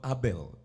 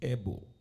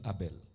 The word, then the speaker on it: Abel: lord apple also actually the correct pronunciation is not abel is able somebody say but we can use abel because that is what